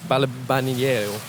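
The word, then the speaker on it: Balbianello: This villa is called Via del Balbaniero, and that's the correct way to pronounce it.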